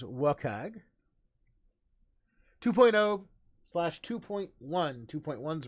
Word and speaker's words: WCAG: web content accessibility guidelines wcag pronounce the acronym as welcag 2.0 slash 2.1 2.1